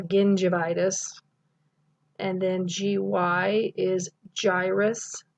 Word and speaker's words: gingivitis: GI is gingivitis, not gingivitis or gingivitis.